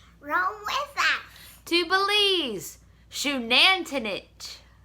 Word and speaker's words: Xunantunich: The X, as in front of the word, is pronounced like SH, like the shoe on your feet. So the name of the tour, the site that we're going is Shoe-nan-two-nitch.